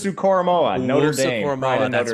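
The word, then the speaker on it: Owusu-Koramoah: I can't pronounce Owusu Koromoa, Notre Dame. Koromoa, that's right.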